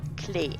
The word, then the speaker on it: Klee: In German, it sounds like this: Klee. Klee. While the Klee. English one sounds more like Lee Lee. with a K in front, Klee. Make sure to use a clear E sound for the German pronunciation.